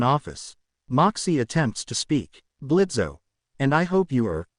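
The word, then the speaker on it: Blitzø: Blitzo, okay, not much of a talker, are you? Hops down and shakes Moxy's hand. I'm Blitzo. The O is silent.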